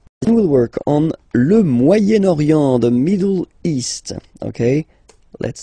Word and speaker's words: Moyen-Orient: So it's interesting here because normally if you would have only this word here, you would pronounce it moyen, moyen, okay? But then as you've got this vowel after, okay, you get to make the liaison between the two. Le Moyen-Orient, Moyen-Orient, okay?